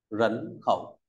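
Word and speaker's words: 人口: tiếp theo ta có từ nhân khẩu đọc là rấn khẩu ta cùng nói rấn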